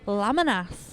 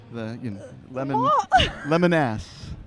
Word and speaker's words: Lamanas: Yes, Lamanas. There you go. Nice, got it. Like the yellow fruit and the beast of burden that carries lemon ass.